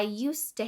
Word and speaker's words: used: However, when this word is a part of the phrase used to, the final D sound is dropped. I used to hate broccoli.